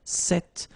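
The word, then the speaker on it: cette: it's quite interesting because if you listen carefully the masculine form here set and The Feminine form here set you you write them differently but then you pronounce them the same way all right for the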